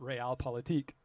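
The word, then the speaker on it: Realpolitik: called real politique uh it looks like real politics but you pronounce it real politique i looked it up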